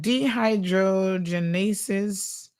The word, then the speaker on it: dehydrogenase: God for for Google so this one is pronounced d de dehydrogenase okay so it's helps